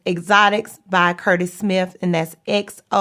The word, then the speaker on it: Xotics: So the name of the product, again, is Exotics. Yeah. Okay, and can you spell that for the audience?